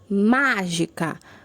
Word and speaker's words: mágica: a antepenúltima sílaba tá mágica na foi a mais forte ela é a antepenúltima sílaba por isso é uma palavra proparoxítona e hoje outros exemplos janela